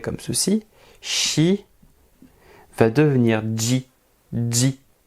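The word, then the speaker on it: じ: ceci, chi va devenir ji, ji. Alors, en termes de prononciation, c'est comme si vous rajoutiez un D devant le J, ji, ji. Mais le D, on ne l'écrit pas. Ji.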